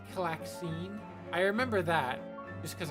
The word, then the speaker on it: Calxiyn: Some things were just like what was uh how was the channel originally pronounced or annunciated? Uh that was odd. It was Claxine.